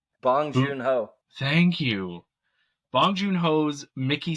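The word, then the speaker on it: Bong Joon-ho: God my name's today how do you say bong junho thank you bong junho's Mickey 17 uh starring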